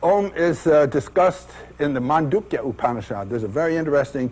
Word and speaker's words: Mandukya: of of God om is discussed in the mandukya upad there's a very interesting two-page upad m